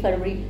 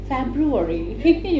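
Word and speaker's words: February: You know जैसे हम लोग अगर पढ़ रहे हैं तो बोलेंगे जनवरी फरवरी, वो कहते थे नो it's called January फेब्रुवरी।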